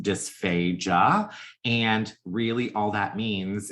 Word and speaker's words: dysphagia: It is pronounced dysphagia, and really all that means is not much more than there's a problem with your swallow.